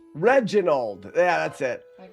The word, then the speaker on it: Reginald: Reginald. Reginald.